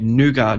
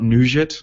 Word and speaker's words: Nougat: my Nexus phone, and that is Nougat, because that's how you say it. You say it Nougat, not Nougat, or whatever you said the other day.